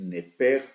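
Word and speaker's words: נפש: dice o se pronuncia nepesh, pero cuando se refiere al alma que Dios puso en la vida del ser humano, parece que esa terminación SH se pronunciara como una J y se escucharía nepej cuando se habla entonces del alma.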